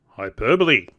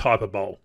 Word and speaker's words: hyperbole: Methinks you're using hyperbole. And no, it's not pronounced hyperbole. Hyperbole. Oh, Julia!